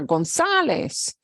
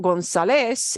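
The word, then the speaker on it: González: that needs an eczema Gonzalez it's not Gonzalez it's Gonzalez Gonzalez okay so you gotta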